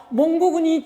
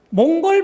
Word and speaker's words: 몽골: 여기서 보시면은요, 저는 계속해서 몽골군이라고 발음을 했는데 여기 한자는 몽고군이라고 돼 있죠. 우리는 최근까지도 몽골 반점이라고 하지 않고 몽고 반점이라고 했습니다. 그런데 최근에 교과서를 비롯하여 모든 것들이 바뀌고 있습니다. 몽고가 아니라 몽골로 바뀌고 있습니다.